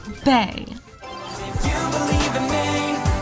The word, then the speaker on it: Bea: Micro Bay is definitely misunderstood by many and not just because no one says her name right, but I have proof. It's pronounced bae.